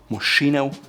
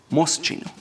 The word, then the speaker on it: Moschino: It's not Moschino, it's Moschino. The next one seems likewise simple.